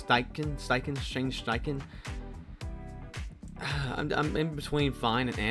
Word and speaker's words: Steichen: Steve Steichen, is how you pronounce Steichen.